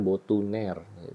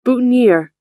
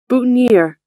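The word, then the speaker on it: boutonnière: Kemudian juga bentuk tangan ya sebutannya boutonniere. Itu salah kayaknya cara bacanya karena dari bahasa Perancis ya. Bacanya yang benar kayak begini nih. Boutonniere, boutonniere, Nah, susah ya kalau lidahnya bukan orang Prancis kesleo tuh.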